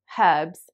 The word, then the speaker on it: herbs: for example the word herbs in british english is derived from french and american speakers actually pronounce it in kind of like a french way so they say ebbs